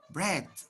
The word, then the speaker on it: bread: Bread. Ah, okay, bread. You write with EA, but you pronounce with the sound E.